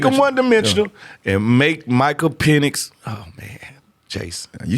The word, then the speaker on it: Penix: Make Make him one-dimensional and make Michael Penix.